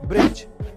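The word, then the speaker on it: bridge: Number one, अगर किसी word में जी से पहले डी आए तो उसमें डी साइलेंट रहता है, जैसे कि ब्रिज, जज, नॉलेज।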